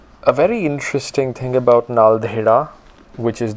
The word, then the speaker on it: Naldehra: And a very interesting thing about Naldehra, which is the local name of the place or the local pronunciation, Naldehra.